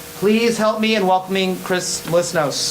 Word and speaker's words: Chris Melissinos: So please help me in welcoming Chris Melissinos. Chris Melissinos? I pronounced it right.